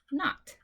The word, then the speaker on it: knot: Okay, this word starts with a KN. We do not pronounce the K. So this just says not.